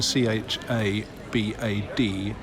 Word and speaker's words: Chabad: So that it's easier to understand, but I believe it's more likely it to be pronounced something like Chabad.